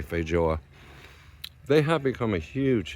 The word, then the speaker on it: feijoa: It's spelled f e i j o a but it's not foa. It's it's actually Portuguese pronounce it J. Fjo.